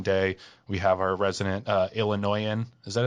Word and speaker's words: Illinoisan: We have our resident Illinoisan. Is that how you say it? Illinoisan? Yeah, Illinoisan Al here, who we'll get to in a second.